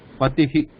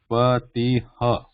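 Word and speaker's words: पतिः: So how it should be sounded like, pronounced? Patihi. It should not be pronounced like Patiha. This is different. This is not Patiha. It is Patihi. So that I, just follow that I sound after that, whatever the last vowel is there.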